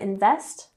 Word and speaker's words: invest: So, the company failed to invest, emphasis on the second syllable, invest, in new technology.